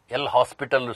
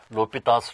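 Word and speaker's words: L'Hôpital: students read me says L hospital rule but he is a French mathematician it should be pronounced as l'hopital's rule so this is in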